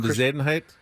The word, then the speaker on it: Bezuidenhout: I know it sounds like you're sneezing when you say his name. Bezuidenhout.